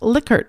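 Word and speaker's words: Likert: scale and said that the Man's last name is actually pronounced licker because he knew him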